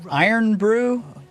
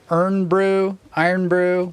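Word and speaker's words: Irn-Bru: But so there's this drink in Scotland, and I don't know how it's pronounced. I've only seen it on the internet. Is it Iron Brew? IRN space BRU. Iron Brew, whatever.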